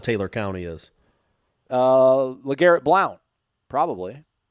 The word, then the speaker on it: Blount: in mississippi that was b-l-o-u-n-t and we were supposed to pronounce it blount so yeah well i mean that's phonetically how it's spelled right yeah like if